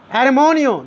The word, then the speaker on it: hermano: Armonio, that is armonio, H is silent. The pronunciation of this word will be armenio.